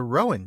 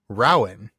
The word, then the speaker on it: rowan: English name of the rowan tree. So we went back and forth on this for a good bit. Tolkien actually pronounces the name of this tree Rowan, not Rowan.